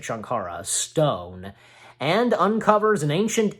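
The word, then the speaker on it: Sankara: Well, anyways, Indy goes in search of the magical Shankara, yeah, that's how you say it, Shankara, stone, and uncovers an ancient evil which threatens all who come into contact with.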